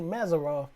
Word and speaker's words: Mazzaroth: In fact, can't thou bring Mazzaroth in his season? This ain't talking about the cancellations of Hades. And some say Mazzaroth, but you can pronounce it either way.